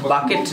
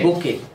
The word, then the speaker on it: bouquet: Bucket না, উচ্চারণ হবে bouquet.